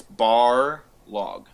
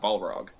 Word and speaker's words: Barlog: It's Barlog, not Balrog.